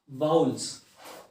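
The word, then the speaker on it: vowels: दोस्तों, कई सारे लोग इसे गलत प्रोनाउंस करते हैं। इसका सही उच्चारण होता है वाउल्स।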